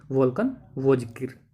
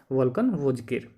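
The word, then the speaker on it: Volkan Bozkır: वोल्कन वोजकिर। Spelling है VOLKN, उसके बाद BOZKIR, वोल्कन वोजकिर।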